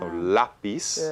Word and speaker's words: lápiz: Lápiz, and the stress is not in the final syllable like and it ends in usually. a consonant other than NRS. So we need stress on the A.